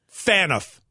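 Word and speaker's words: Phaneuf: page front door and it's pronounced fan earth according to Maddie herself well tell Maddie she's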